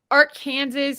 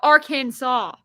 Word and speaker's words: Arkansas: and then I'm like in Kansas they call it like art Kansas and Arkansas and I thought that was dumb like it's Arkansas that's how you get beat up Dara it's called Arkansas not our Kansas like no when you're